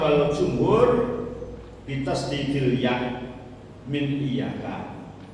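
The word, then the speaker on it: إِيَّاكَ: Qara'a as-sab'ah wal jumhur bitasdidil ya min iyyaka. Jumhur ulama dan qiraah sab'ah membacanya dengan mentasdid ya, iyyaka. Meskipun ada sebagian yang membaca tanpa tasdid ya, tapi pendapat yang benar adalah yang tasdid.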